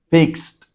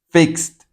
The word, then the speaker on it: fixed: En la palabra fix, esta X ya sabe que termina sonando como una s, fix. Entonces esta E lo mismo, se va a pronunciar como una T. Fixed. Fixed.